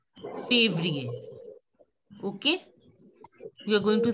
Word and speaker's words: février: Février. You know how to say favorite? So same way, février.